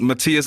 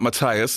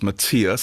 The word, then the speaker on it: Matthias: call you matthias because we're both german and and matthias is the correct pronunciation so it's not mathias it's matthias and i can actually